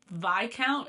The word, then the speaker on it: Viscount: not necessarily smart about Viscount time time math Viscount did you all know did you all know that VI count is spelled with an S I knew it the